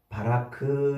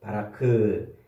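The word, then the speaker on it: ברך: 복주사 복이라는 말을 바라크 이렇게 발음을 하는데 히브리어로 바라크 그 바라크는 레쉬 카프 요렇게 세 글자로 돼 있어요.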